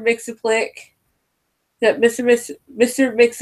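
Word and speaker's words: Mxyzptlk: might mister makes a click I recently just found out how learn how to pronounce his name but it's mr. mixon flick that mr.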